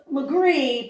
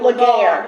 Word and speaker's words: Laguerre: Oh, Legree, but it looks like Laguerre. Laguerre or Laguerre, right. Yeah, and we were saying the Laguerres, and they're like, that's not how you say it. No. Even though that's exactly how you spell it.